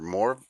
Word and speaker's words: Mor: It's from I don't know if it's Morvit or More Xvid. I don't know what this guy's name is, but it's MOR. You pronounce it more.